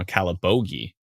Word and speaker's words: Calabogie: near calabogie says trisha there is a location that i know how to pronounce properly now calibogi when uh calabogie was